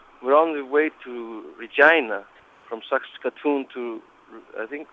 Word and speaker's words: Regina: We're on the way to Regina from Sakatun to I think think it's pronounced It sounds like vagina, but we spelled Regina.